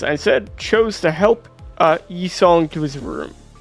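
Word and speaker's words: Yi Sang: I instead chose to help Yi-Song to his room. What's the correct pronunciation? E, like just E. E-Song. E-Song.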